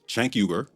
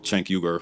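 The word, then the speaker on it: Cenk Uygur: This one's about the network itself, specifically their leaders, Chank Yuber, that's how the founder of TYT, Chank Yuber, pronounces his name, by the way, and the self-labe politically homeless and a conspira.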